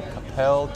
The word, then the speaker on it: Coppell: We are at the Wagon Wheel Tennis Center in Coppell, Texas. Is that how you pronounce it?